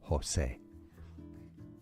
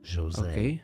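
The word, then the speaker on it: José: the H oh sorry the J is an H Jose now if it's Portuguese or Brazilian Portuguese Jose Jose is how it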